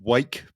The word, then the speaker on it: Rwake: aware of but uh the band are called Wake that's spelled with an R. Um it's not wake as in our wake like it's a different wake.